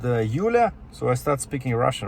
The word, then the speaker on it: Yulia: it can be Julia, but her name was spelled with a Y, Y-U-L-I-A, Yulia, which is like translation from Russian, right?